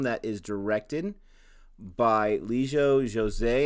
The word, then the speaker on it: Jose: This is a film that is directed by Lijo Jose. And I'm saying the J, a hard J, because a friend of mine on Instagram told me that's how you pronounce it.